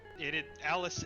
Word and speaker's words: Alys: So interesting fact, Alice is the proper pronunciation.